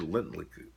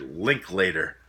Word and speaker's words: Linklater: before trilogy of course directed by Richard Lindley I always get his last name mixed up it's Richard Linklater that's how you pronounce it Jesus Christ but uh